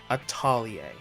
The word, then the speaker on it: Atelier: a partial English dub, I'm going to say it the way the Japanese voice actors say it. Atelier. Now back to business. The new game in the Atelier series did not come